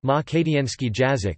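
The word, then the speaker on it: македонски јазик: Makedonski, pronounced Makedienski Jazik, listen, is a South Slavic language spoken as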